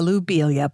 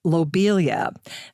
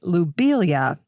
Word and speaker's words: lobelia: i used to say lobelia but now knowing the french pronunciation of his name i'm going to say lubelia instead subtle little change low versus lou but lou would be the more correct pronunciation after all the plant